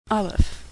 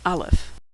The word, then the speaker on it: Aleph: Aleph, which is silent, or some would say, makes the sound before the A in apple. Aleph.